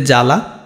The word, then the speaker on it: জ্বালা: তাহলে এই যে জ্বালা, এটা এই ব ফলার উচ্চারণটা কিন্তু আর হবে না, তখন জ্বালা হয়ে যাবে।